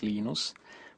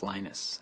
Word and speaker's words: Linus: I speak Finnish it's lenos when I speak English it's lonus and I really don't care how people pronounce my name but Linux is always